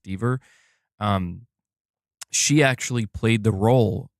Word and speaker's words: Dever: 2, Caitlin Dever, apparently her last name is pronounced Dever, she actually played the role of Cassie Drake at the end of Uncharted 4.